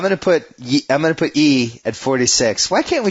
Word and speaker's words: Yi: you come yeah man with e it just looks like it should be ye and if it's spelled